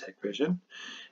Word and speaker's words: Hikvision: I know I say Hikvision half the time. The correct way to say this is Hikvision.